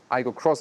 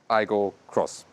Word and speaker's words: Aygo X: Aygo Cross styling, and you indeed say Aygo Cross, although it says Aygo X, and the Corolla Cross says really Corolla Cross. Yeah, they still pronounce it Aygo Cross.